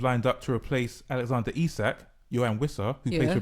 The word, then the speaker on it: Isak: tells me that they are not happy with Isak. Is that how you say his name? Correct. Right. So, but the point is that Liverpool have not met their valuation of Isak.